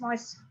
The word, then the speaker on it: moisten: Please note that T is silent in moisten. You just say moist. There is no pronunciation for the word T. It's just moisten.